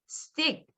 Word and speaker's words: stick: 발음하셔야 되는데 앞에 이렇게 S가 붙어서 두 번째 자음으로 등장할 때는 스펜이 아니고 스펜. 우리식으로 하면 쌍비읍. 또 stick 이것도 쌍디읒. skin 쌍기읍 발음이에요. 그래서 어때요? spin, stick, skin 이렇게 발음하셔야 돼요.